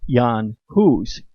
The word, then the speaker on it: Jan Hus: centuries the teachings of jan huss or pronounce yon hus a czech priest and